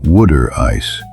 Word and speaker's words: water ice: And here it is pronounced wood ice.